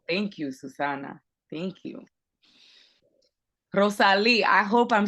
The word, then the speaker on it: Rosalie: Rosalie, I hope I'm saying it right.